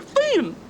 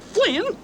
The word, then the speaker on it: Finn: idler the useless loafer he was Huckleberry Finn not Flynn ain't it the decent